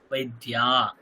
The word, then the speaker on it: বৈদ্যা: বৈদ্যা ভাবাতি বৈদ্যা বৈদ্যা বললে হবে না বৈদ্যা আকার দীর্ঘ দীর্ঘের উচ্চারণ করতে হবে বৈদ্যা নেক্সট কি আহম আরিকা